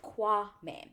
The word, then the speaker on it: Kwame: certain way for me to remember how to pronounce it Kwame there we go Kwame so we meet Chelsea and Kwame first and